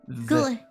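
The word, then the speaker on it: god: So here you have an example of the soft D. Good. The. Good. Yes. So and it's then like we have good. Sometimes you can pronounce the D like L. It sounds a bit like L.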